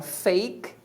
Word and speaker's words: fake: técnica tá fake então fake a letra A dessa palavra você pronuncia A por quê Porque a palavra é uma palavra de uma sílaba e ela termina com a letra E aí você deve estar